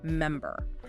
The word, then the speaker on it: MMBR: That's MMBBR pronounced member, right?